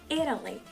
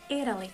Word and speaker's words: Italy: Itália, a gente vai pronunciar em inglês Italy, Italy, como se esse T fosse um Rzinho bem fraquinho, Italy, ok?